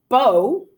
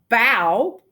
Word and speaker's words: bow: changed fast haven't they the word bow is a homograph and it can be pronounced bow and be a knot with root loops tied in ribbon like you know girls wearing their hair huh or it can be pronounced bow and mean to bend one's head or body a bow right or it's the front of a boat which meaning makes the